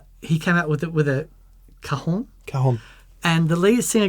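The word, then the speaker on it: cajón: Yeah, I think the correct pronunciation is cajon. Cajon? Cajon? Cajon. Cajon. It's a Spanish word.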